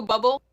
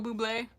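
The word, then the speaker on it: Bublé: So I used to say Michael Bubble, but then I found out it's like Boué or something. Michael Bubé.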